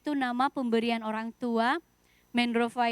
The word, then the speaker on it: Mendrofa: Mendrova itu sebenarnya pelafalannya Mendrova. Tapi di Nias itu ada satu vokal yang tidak ada di bahasa Indonesia, yaitu e. Jadi kami kalau menulis emas, andai kata itu bahasa Nias, itu nulisnya o dan ada aksen di kepalanya.